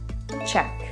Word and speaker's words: cheque: Check. Note that the ending is spelled with CK in the United States, but many other countries use QUE at the end. The pronunciation is the same.